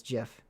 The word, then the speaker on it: GIF: as gif even though the creator said it's jiff that's that that amazes